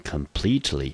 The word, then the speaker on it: completely: 那你可能会说，诶 Andy 这个 e 不是在字的中间吗？为什么它不当一个音节呢？因为这个 completely 这个副词它原本是形容词 complete 在后面加上 ly 所组成的一个副词的词类，所以呢这个时候的 plete 的 te 的 e 呢我们还是不当一个音节，一样的重音节落在第二个音节，这个字我们就念成 completely，它是个副词，中文翻成完全的。好，我们看看它的同义字叫做 totally。